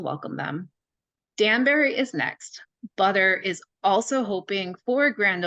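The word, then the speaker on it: Budr: a new phase when butter spelled b-u-d-r pronounced butter cannabis opens a store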